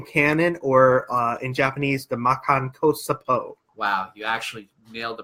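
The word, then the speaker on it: Makankōsappō: The special beam cannon, or in Japanese, the Makan Kosapo. Wow, you actually nailed the pronunciation.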